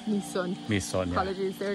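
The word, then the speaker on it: Mỹ Sơn: And it's so, not called my son, it's called me son.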